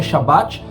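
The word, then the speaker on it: שבת: também os sábados cerimoniais a palavra sábado que no original se pronuncia shabat significa descanso uma espécie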